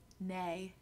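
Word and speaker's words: née: Nay, and I know that's how you say it.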